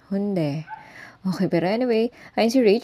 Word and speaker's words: Hyundai: is Mall talaga siya okay so hunde soul sabi ng mga Korean friends ko Yun daw yung pronunciation hunde Pero anyway ay si